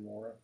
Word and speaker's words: Moreh: How do you say that right? Is there a... Huh? Moreh or... Okay. I wasn't quite sure on that, so I wanted to ask. I would say Moreh.